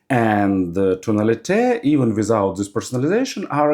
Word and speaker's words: Tonalite: even without personalization tunal always want to call them tunalite but company said that it should pronounce more like on French manner and tunal Even without this personalization